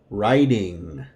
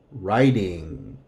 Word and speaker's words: writing: driving studying cooking working writing cleaning exercising busy remember that any time we have this combination W R the W is silent writing all of these